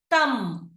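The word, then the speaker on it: thumb: option C క్రమ్ క్రమ్ coming to option D తం తం సో ఇక్కడ మనకి ఆన్సర్స్ ఏమవుతాయి ఆప్షన్ ఏ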